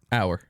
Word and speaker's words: Auer: And how do you pronounce it? hour.